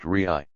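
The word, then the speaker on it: Re'eh: In the book of Deuteronomy there is a particular parsha or portion entitled Re'ah, pronounced Re'ai.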